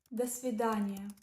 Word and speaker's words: до свидания: The first word is до свидания. До свидания. It means goodbye, pronounced like да, сви, да, ни, я. The do is pronounced as if it is part of the next word.